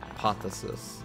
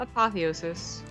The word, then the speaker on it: apotheosis: as the yellow tan he is Keen so apotheosis yeah apothesis how do you say how do you say the map name uh apotheosis apotheosis yeah and then people so yeah there's